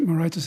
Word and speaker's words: Moraitis: Mr. Moraitis, is that how you say it? Moraitis. Sorry? It's all right, Moraitis is fine. Moraitis? I was being Greek, yeah.